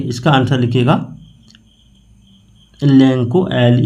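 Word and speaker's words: Lencho: देखिए यहां इसको कोई लचो भी बोलता है। कोई लैंको बोलता है। लेकिन इसका सही उच्चारण लेंको होगा। क्योंकि सी एच के बाद अगर ओ होता है तो उसका उच्चारण को हो जाता है।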